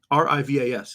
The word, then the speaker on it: Rivas: Alfonso Rivas Rivas ravas Rivas how do you pronounce R A r-i-v-a-s it seems like it should be easy rebas